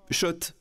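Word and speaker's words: Schott: Oui, Shot et pas Scott, ça fait des années qu'on prononce mal la marque.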